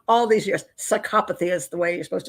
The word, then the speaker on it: psychopathy: Psychopathy is the way you're supposed to say it now.